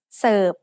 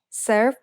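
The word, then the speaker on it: เสิร์ฟ: The letter R in the English word serve doesn't get pronounced in Thai, so we write รอเรือ with Garan above it, just to indicate what the original spelling was.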